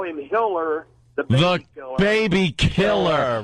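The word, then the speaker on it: Tiller: There's this doctor abortionist named Hiller, and they call him Hiller the baby killer. Baby killer. Right. You don't want your name to rhyme with killer when you're doing abortion.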